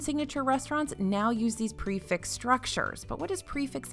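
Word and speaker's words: prix fixe: you eat your way around disney world next prefix menus are everywhere you'll hear the term a lot in disney world lately because a lot of table and signature restaurants now use these prefix structures but what does prefix mean exactly well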